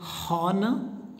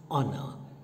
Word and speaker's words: honor: honor do you say hana no it is honor what's the full sound that you hear ah it is not ho here h is silent so when you use